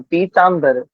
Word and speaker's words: पीतांबर: जब हम बोले तो हम इस बात का ध्यान रख की हम पीतांबर ना बोले कुछ भक्तों पीतांबर का भी उच्चारण करा है तो पीतांबर धरम देवम पीतांबर ब का उच्चारण करें ना कि भ का उच्चारण है ना पीतांबर धर्म देवम